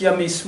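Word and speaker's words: Ahmes: Alors Ames se prononce Yamesu en langue africaine antique, hein, bien sûr.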